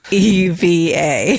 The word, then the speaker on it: EVA Air: It's EVA.